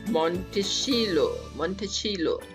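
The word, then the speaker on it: Monticello: So Thomas जेफरसन्स home is called मोंटेचिलो। ये Italian word है, सो it's different pronunciation. Yes, James जेफरसन्स home is called मोंटेचिलो।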